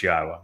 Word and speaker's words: Yahowah: U so be aware God's name is pronouncable. It is Yahwa. There is no B sound in the original Hebrew language.